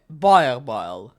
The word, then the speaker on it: Boerboel: Let me Repronounce that. My goddamn tongue. Boerboel.